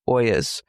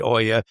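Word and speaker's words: olla: And again, it's spelled o l a. Mhm. Even though you're being fancy and saying oya.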